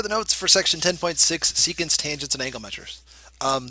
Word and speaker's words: secant: a secant line so that's pronounced secant like as an s-e-e-c and then can't can't see so secant is a